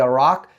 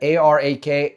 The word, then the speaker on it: Arak: The Israeli military said it targeted the Arak heavy, I believe I'm pronouncing that, A-R-A-K, Arak, so it's either Arak or Arak, heavy